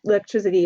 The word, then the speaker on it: electricity: spelling doesn't change, but we hear electric. But when we hear the ITY on the end for our suffix, let's change that, ITY for our suffix. So it's not electricity, it's electricity. So you can hear how that changes from the hard C to the soft, or the soft C, or yeah. So hard C, electric, to electricity when you add the ITY.